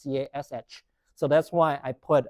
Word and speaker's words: cache: CACHE is pronounced the same as CASH.